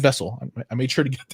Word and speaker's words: VSSL: devin from vessel and that's spelled vssl but said vessel i made sure to